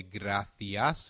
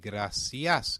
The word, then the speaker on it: gracias: Latin American Spanish C when followed by e/i is pronounced as the/thi in European Spanish and se/si in Latin American Spanish Hence we will say Gra-thee-as in European Spanish and Gra-see-as in Latin American Spanish